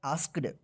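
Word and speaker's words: asked: आस्क ए एस के आस्क में ईडी लग गया तो क्या पढ़ा जाएगा इसको आस्ड them if एनी वन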